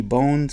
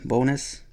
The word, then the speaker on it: Bones: teams here's Ricky bonus a lot of people call him Ricky bones but it's pronounced bonus played with the Yankees